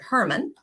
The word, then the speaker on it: Hermon: in Northern Israel on Mount Hermon or some pronounced it Hermann Mount Hermon has a